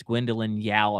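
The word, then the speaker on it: Gwendoline Yeo: the way uh I think her name is Gwendolyn Yao if I want to pronounce pronounce her name correctly she plays Nala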